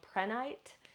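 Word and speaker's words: prehnite: great there is another stone that is called pranite it is spelled p-r-e-h-n-i-t-e it's considered the stone to ward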